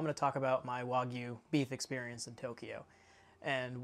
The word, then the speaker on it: Wagyu: of redo the previous video I did about Wagyu beef, which in general is a little bit more robotic, and I said Wagyu beef instead of Wagyu beef.